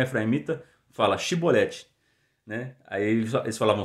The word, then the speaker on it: chibolete: ele então se você não é efraimita fala chibolete né aí eles falavam sibolete porque eles na pronúncia deles eles não conseguiam é o sotaque